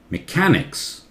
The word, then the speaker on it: mechanics: Mechanics. Cat louder. Mechanics.